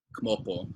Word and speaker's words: kmopo: So like kmopo is like to come up, but it's spelled K-M-O-P-O, and it's to come up, or like sidong, to sit down, S-I-D-O-N.